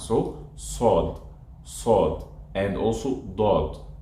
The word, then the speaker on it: ص: After the seen, starting from sod, I have to round my lips a little bit. This is how I perfect those deep sounds. So sod, sod, and also dod, sod and dod.